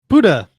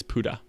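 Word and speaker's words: Pode: platformer released this summer 2018 and movin on Buddha and that is how they pronounced it P OD e is how it's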